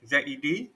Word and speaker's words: Z: as a sec notation pronounced as that zed this one is basically is english pronunciation of letters of z this one please